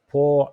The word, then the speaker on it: Por: brand it is called POA five syllables po which is which means four you can pronounce it like p o u r Paul and then La